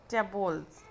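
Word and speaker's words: tableaux: The plural of टैब्लू is tabular, pronounce as tables.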